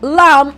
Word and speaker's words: lamb: have lamb lamb now in pronouncing the word lamb our B is word silent so you can call our b word a magic b or a silent B therefore since when I pronounce the word lamb I do not hear the B sound therefore my B is